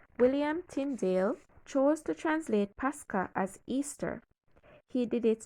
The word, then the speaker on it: Pascha: Interestingly, it was transliterated from the Greek word pronounced Pascha, which is Strong Concordance's G3957.